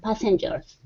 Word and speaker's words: passenger: with each of the passengers okay very good all right let's try that last word instead of PA passenger it's an a sound P passengers passengers good